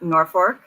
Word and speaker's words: Norfolk: the few thing like we have Norfork which is spelled Norfolk because the people who are